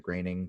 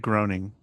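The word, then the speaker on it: Groening: have the 15th is Matt graining the creator of Simpsons always pronounce it groaning I don't know you're wrong alright 17th we have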